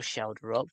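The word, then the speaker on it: Schjelderup: Luckily, I um got Andreas Shelder pronunciation worked out before this game so I can pronounce Andreas Shelder. I can't spell Shelder up, but I can say it.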